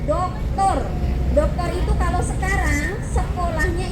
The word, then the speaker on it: doktor: Ada lagi satu gelar yang depannya kapital, kalau tidak salah huruf kapital D sama R, dibacanya doktor.